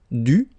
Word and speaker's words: dû: So even if you put this accent circonflexe, you don't pronounce it, okay? It doesn't change the sound of the letter U, so it's the same phonetically, it's U and then U, okay?